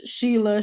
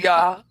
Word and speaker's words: Shea: was, first of all, nobody could pronounce my name. It was Sheila, Sharon, whatever. It's just Shea. Yeah. It's Shea. Literally, I'm named after the Shea Stadium in New York.